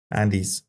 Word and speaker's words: Andes: Andis the miracle of the Andes Andes that's how it's pronounced those Rock places uh